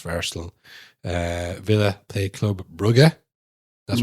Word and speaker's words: Brugge: You've been saying it wrong forever. It's Brugge.